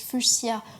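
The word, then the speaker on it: fuchsia: pourrait se dire qu'étant donné que ça se prononce fuchia on n'écrirait pas fuchia et pourtant le mot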